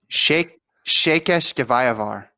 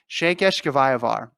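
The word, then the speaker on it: Székesfehérvár: This meet is in, hold on, let me play it on Google pronunciation here. Hold on. Shekeshkevayavar.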